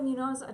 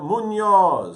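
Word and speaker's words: Muñoz: Javier Munos. Do I always say his name wrong? And Brandon Victor Dixon will join. Javier Munoz. Thank you.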